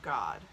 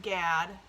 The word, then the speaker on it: Gad: have the tribe of god it's not pronounced gad people always try to do that because they feel uncomfortable saying god i know because i